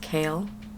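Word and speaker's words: Chaol: getting I found out that his name is pronounced kale we're still getting Kale's point of view and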